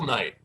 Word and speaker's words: Knight: Please welcome Will Knight with a silent K, knockout.